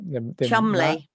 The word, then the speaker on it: Cholmondeley: who goes by the moniker how do you pronounce that? Cholmondeley.